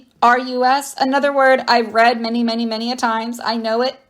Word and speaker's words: procerus: Procerus, I believe is how it's said. Procerus.